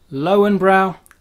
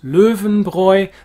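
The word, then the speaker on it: Löwenbräu: in the uk and known as lowenbrow where are our umlauts where we actually need them obviously we haven't got them so we don't know how to pronounce leuven broy the brew the lions brew famous bavarian beer of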